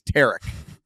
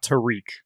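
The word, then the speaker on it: Tarik: It rhymes with Derek. Here is him saying it. That's on me. We care about pronunciations. It is not Tarek. It is not Tarek. It is Tarek, as in Derek. It is definitely not Tariq.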